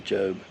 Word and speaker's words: Job: She said it was Job. Let me know if she's right. I'll take her word for it and I'll pronounce it for Job this time.